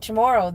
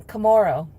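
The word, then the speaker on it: Chamorro: Like Chammoro, they were saying initially they were saying Kamoro and I was like, what's Kamoro?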